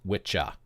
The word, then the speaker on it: wicca: Anglo-Saxon word which is spelled the same way but it's pronounced witcha wicha referred to an